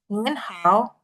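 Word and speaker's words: 您好: Jadi untuk yang A bacanya Nin Hao. Mas Haris tadi udah betul ya. Nin Hao. Tapi karena ini Nin ya, bukan Ni. Jadi N di belakangnya lebih diperjelas.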